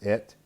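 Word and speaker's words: את: All right, we have the direct object marker that is usually not pronounced, but it's et, okay, eight.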